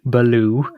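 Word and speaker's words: Ballou: in the bear no it's spelled b a l l o u beloo okay guess it's a French origin sure but in it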